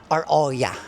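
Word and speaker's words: Oia: Anong tamang pronunciation mo? Iya. Oo. Iya. Iya. Ang in Greek. Oya. Orya. Ayan ang tamang pronunciation niya.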